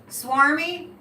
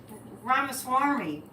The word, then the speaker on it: Ramaswamy: Vivek Ramaswamy. Did I say it right that time? Swarmy? Yeah, I want to say Ramaswamy.